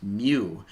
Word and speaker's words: mu: little uh little weird looking u and it's pronounced mu mu and that is called the coefficient of